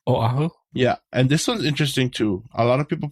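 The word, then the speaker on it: Oʻahu: a W they go aahu aahu but just know that there's a okina between the O and the a so that shows it's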